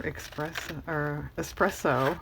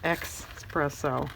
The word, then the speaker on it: espresso: and saucer it's for espresso I almost said "expresso," like "e-x" I don't drink espresso